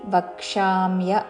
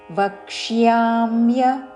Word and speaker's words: వక్ష్యామ్య: అనుస్వారము నాసిక వ ఉచ్చారణ వక్ష్యామ్య య వ పక్కన క కి ముర్ధన్య ష వత్తు య వత్తు మూడు చక్కగా వినపడాలి వక్షామ్య అనకూడదు వక్ష్యామ్య వక్ష్యామ్య శేషతః తలవ్యషే తర్వాత మూర్ధన్య